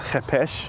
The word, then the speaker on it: Khopesh: So the Khopesh, in certain circles, is pronounced as Chepesh.